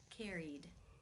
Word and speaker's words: carried: The final sound in the infinitive is the E as in she vowel sound. Since it is a vowel, it must be case 2, where the ed is pronounced as the D sound.